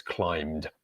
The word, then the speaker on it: climbed: So it's climbed, but we're not pronouncing the B in there.